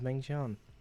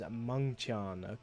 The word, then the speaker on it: Mengtian: Apparently, the pronunciation is Mengtian.